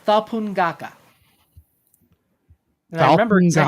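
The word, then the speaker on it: Thapunngaka: It's called Thapungaka.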